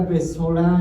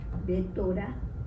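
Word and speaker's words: בשורה: ¿Saben qué significa besorá en hebreo? Besorá. Besorá. Betorá. Besorá, con S. Como besar, besorá. ¿No?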